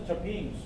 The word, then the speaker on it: terpenes: T-E-R-P-N-E-S, pronounced as terpenes.